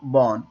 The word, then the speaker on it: born: and where were you born ٹھیک ہے برن نہیں بولنا برن کا مطلب ہے جلنا وہ ہوتا ہے سپیلنگ کا اس کا سپیلنگ ہے BURN ٹھیک ہے اور یہ ہے born where were you born